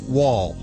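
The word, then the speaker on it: Wahl: Listen, this part of Animal Radio is brought to you by Wall Home Pet Products.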